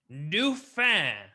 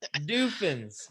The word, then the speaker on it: Dauphin: Dauphin, I declare. Duffin. Is little Grin French now? No, he mispronounces it. Doofins. Doofin. Look, it's Doofin.